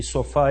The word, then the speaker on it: sofá: Esse A aqui, monossílabo, e sofá é oxítona. A oxítona pode ter várias sílabas, mas ela tem que ter no mínimo 2.